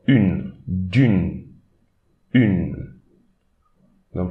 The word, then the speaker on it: une: Okay, don't pronounce this E, but instead we'll pronounce the N before. Une, d'une, une.